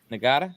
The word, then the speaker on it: Ngata: Joseph Ngata. Ngata, yeah.